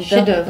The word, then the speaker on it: chef-d'œuvre: O che escreve igual chef. Fala chef de cuisine. Chef. Mas não pronuncia o F, né? Não, on prononce pas le F. Então, Chef-d'œuvre.